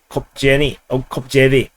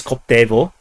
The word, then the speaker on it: Koptevo: MiG-29 shot down over Kopjevy. Actually, it's Koptevo, and but somehow the Ukrainians spelled it in some kind of a wonky, magical way, and it makes it impossible to pronounce in English.